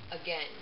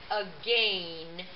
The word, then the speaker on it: again: to take the test again that means another time so here's the word uh again it looks like a gain but it's pronounced again now back to our